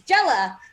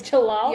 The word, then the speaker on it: Jalal: was an exclamation point so i read it as jella um but i think it's an l so it's jalal yeah so i don't